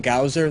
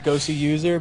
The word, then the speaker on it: coLgoswser: Yeah, it's even though there's a W there, it's supposed to be two Yeah. W's. So anybody who knows how it's pronounced, forgive us if we occasionally call him Gowser. That's Yeah, not what it is.